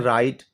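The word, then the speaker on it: right: ग को प्रोनाउंस नहीं करते हम कहते हैं राइट सेकंड शब्द है हम ब्लू साइलेंट है क्योंकि हम ब्लू को नहीं पढ़ने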